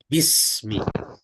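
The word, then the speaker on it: بسم: Ya, tetapi karena alif ya, karena secara bacaan itu alifnya alif hamzah wasol ya. Jadi maka dihilangkan alifnya. Bismi. Ya.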